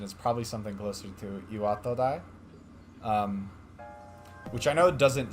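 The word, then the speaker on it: 巌戸台: The actual pronunciation is probably something closer to Iwatodai. Which I know doesn't sound like a huge difference. But in general, Japanese is, it doesn't have syllable stress.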